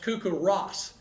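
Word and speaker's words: CoCoRaHS: did you say he knows better it's actually pronounced cuckoo Ross stands for community collaborative rain hail and snow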